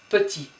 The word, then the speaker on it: petit: Don't pronounce the T here. Petit.